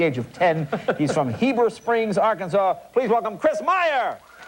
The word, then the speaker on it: Heber Springs: Now tell us, is it Heber Springs? Am I saying it right? Yes, sir.